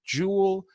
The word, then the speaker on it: Joule: that is the Joule remember Joule rhymes with cool and there is nothing